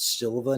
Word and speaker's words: Silva: which kicks off with bruno silver bruno is silver bruno silva versus gm3 i'm gonna have people in the checkout and you mispronounce silva now um like you